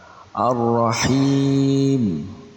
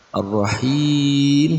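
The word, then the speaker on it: الرَّحِيم: Kemudian yang keempat, Ar-Rahim. Pembacaan yang keempat itu mad arid lisukun, karena huruf mad jatuh sebelum huruf yang diwaqaf. Maka cara membacanya dengan dipanjangkan 2 sampai 6 harakat.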